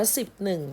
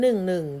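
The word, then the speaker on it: สิบเอ็ด: 10 ข้อ นะ คะ ทำไม ไม่ อ่าน ว่า 10 1 มี แต่ ตัว นี้ เลข 1 2 ตัว เรา ไม่ อ่าน ว่า สิบ หนึ่ง นะ คะ จะ เป็น คำ พิเศษ ที่ เขา ใช้ นะ คะ ของ ใช้ อ่าน ว่า 1 2 ตัว เรา ไม่ เรียก ว่า หนึ่ง หนึ่ง แล้ว ไม่ อ่าน ว่า 1 1 หรือ เรา ไม่ อ่าน ว่า สิบ หนึ่ง แต่ เรา อ่าน เป็น คำ พิเศษ ว่า 11 นะ คะ เพราะ ฉนั้น ให้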